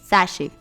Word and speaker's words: sachet: okay last is it sachet or sachet it's Sashi Sashi now you tell me the answer to